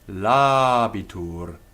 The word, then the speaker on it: Labitur: A word like Labitur, if we didn't have the first a as long by nature, we would have a short syllable, but it's long. Labitur.